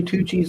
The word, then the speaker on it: Tucci: So if you pronounce it touchy, yes. Touchy. That Touchy was Tucci. correct.